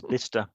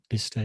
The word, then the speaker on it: Bicester: The other one's Bicester, another good one. Bicester, yeah.